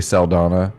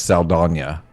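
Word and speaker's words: Saldaña: It has always been Zoe Saldana, is all I've ever heard for 20 years. And now this year it's Saldana. It's got the little tilde over the end.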